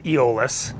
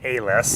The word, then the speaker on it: Eolus: how do you pronounce it we we we pronounced an egoless yeah there's a few different ways to present people say hey you have people from Silverton usually pronounce it ALS yeah who we named us after Mountie almost